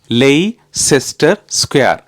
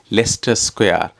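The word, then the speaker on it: Leicester Square: பாடமாக்கி வச்சிருந்தா கடைசியா கேள்விப்பட்டேன் அதை அப்படியெல்லாம் உச்சரிக்கிறியாம் அதுல வர சி யோ இயையோ கணக்கிலேயே எடுக்குற இல்லையாம் அது வந்து லெஸ்டர் ஸ்கொயர் லெஸ்டர் ஸ்கொயர் என்று தானே வாசிக்கணுமாம் என்று சொல்லி அடுத்த துன்பம்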